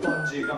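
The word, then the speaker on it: バンジーガム: 今の技は伸縮自在の愛と書いてバンジーガムっていうことですね。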